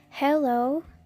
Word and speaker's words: hello: the mountain was Uche and hello it's not yellow you try them harm